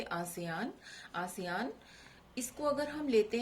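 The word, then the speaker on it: ASEAN: विस्तृत रूप आसियान, ये इस तरह से लिखा हुआ भी आ सकता है, इसको आप प्रोनाउंस करोगे आसियान।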